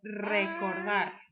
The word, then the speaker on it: recordar: If you watch the pronunciation video, you should be practicing your R's, your rolling of your R's, and see if you can say recordar.